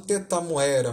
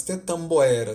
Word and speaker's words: tetamboera: E o fato fonético, né, que a Anchieta vai demonstrar aqui, é que o M não era falado entre, entre duas vogais, o A e o O, né? Não era pronunciado tetamoera, mas tetamboera.